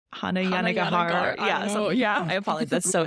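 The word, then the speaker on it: Hanya Yanagihara: How do you pronounce the author's name again? It's like Hannah Yanagihara.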